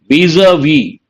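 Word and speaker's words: vis-à-vis: Vis-a-vis. You got to be careful. Here S is silent.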